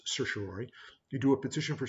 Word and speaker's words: certiorari: remember how to spell it but it's it's pronounced certiorary you do a petition for certain ways and